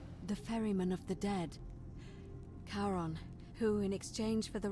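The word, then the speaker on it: Charon: is a little off the name you heard wasn't karen it was c-h-a-r-o-n the ferryman of the dead karon who in exchange for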